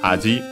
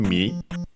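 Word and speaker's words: 味: which, well, it's Japanese, strictly Japanese pronunciation is aji, which on its own, unaccented by the way, means flavor, taste. By extension, it becomes also charm, appeal, other extended meanings. But yeah, here in this case we have the Chinese pronunciation, mi.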